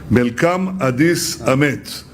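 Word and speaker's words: መልካም አዲስ ዓመት: Melkam Adis Amet.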